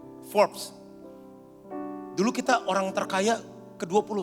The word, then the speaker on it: Forbes: Begitu lihat majalah forbs itu ya bacanya forbs atau Forbes itu bantu aku dong Apa bacanya forbs Ya forbs dulu kita orang terkaya